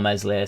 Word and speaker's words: Meslier: decent enough backup for mli silent s well we did have